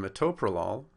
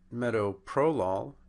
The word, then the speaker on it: metoprolol: on the second syllable in metoprolol it's on the second syllable and in simvastatin it's